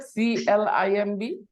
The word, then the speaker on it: climb: is silent good afternoon B is silent no B sound okay B is silent